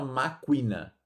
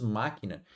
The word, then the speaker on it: máquina: Nesse caso, a gente não pronuncia o, a gente não fala máquina, certo? Nós falamos máquina.